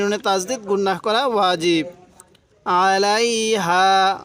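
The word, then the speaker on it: عليها: আলাইহা, আলাইহা, আইনটা একটু চাপ দিয়ে পড়লে আইনটা সহি উচ্চারণ হবে।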